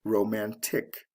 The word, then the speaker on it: romantic: before adding the ending romantic so it goes from the first syllable to the second syllable in stress c e to t i c romance romantic now the next word